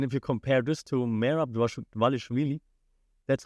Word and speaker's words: Merab Dvalishvili: And if you compare this to Merab Dvalishvili, that's how you say his name, Chelson.